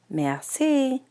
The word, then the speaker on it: merci: You say it like this, merci.